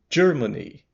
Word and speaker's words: Germany: tá acostumado em português acrescenta um D aqui na pronúncia G Germany aqui e eu